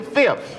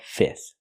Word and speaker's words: fifth: The fifth or the fifth? Both pronunciations are used. You can pronounce the middle F and say fifth, but you don't have to. You can eliminate the F and just say fifth.